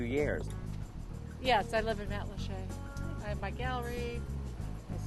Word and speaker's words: Matlacha: Oh, it's pronounced Matlacha, which is an Indian word meaning shallow waters.